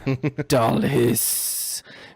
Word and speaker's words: Dalhis: But my name is Dalhis. You have to pronounce the S's very long. Dalhis.